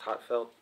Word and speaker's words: HA:TFELT: the new song by I guess it's pronounced hot felt it's got some nice